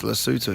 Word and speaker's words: Lesotho: Yeah, but it is actually pronounced Lesotho.